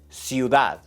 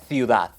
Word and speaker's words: ciudad: This, ciudad. That's a great tip to sound more native in Spanish. Todo, todo. Una pista más. En algunas partes de España, ciudad es ciudad.